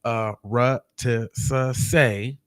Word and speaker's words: Arutisuse: It says a Arutisuse, pronounced Arutisuse, is a holiday that celebrates foundational Black American culture of freedom, fighting, and resistance.